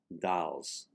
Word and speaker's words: dels: of the word dels it is pronounced dolls with an a and the last word